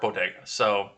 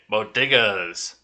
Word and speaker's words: bodegas: you guys do ah the first lady appeared to misspeak pronouncing bodegas now it sounds like well hey modigas it sounded more like it was boguta b-o-g-i-d-a ah bodegas are popular corner stores